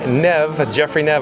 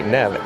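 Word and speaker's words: Neve: Jeffrey Nev, I do believe that's how you say it, Jeffrey Nev, N-E-V-E.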